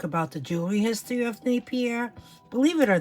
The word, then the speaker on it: Napier: my vintage jewelry sale showcasing Napier okay that's how I pronounce it some people say Napier I don't know anyway this is what